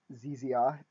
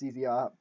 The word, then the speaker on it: ZZR: because Banning rexi from ZZR pronounced ZZR even though as a British person I always want to say Z ZR um is a sensible